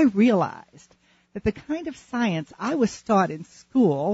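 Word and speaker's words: Psience: Jones, who has written an extraordinary book called Science, but it's spelled differently. It's spelled capital P-S-I-E-N-C-E, Science.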